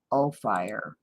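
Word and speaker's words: Ophir: anyway I spelled it it's like oh oh fire op-h instead of f IR therefore I will make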